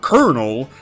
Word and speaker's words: colonel: the rules, such as how colonel has an R sound despite there being no R in the word.